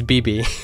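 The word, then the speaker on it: Bibi: uh you pronounce it it's one letter twice that's how you pronounce it close so close so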